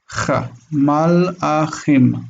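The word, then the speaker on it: מלאכים: The aleph is a break, right? So it's not mala, but mal'a. Mal'a. Malahim. Chim. That kaf is soft. It's ch. Malachim.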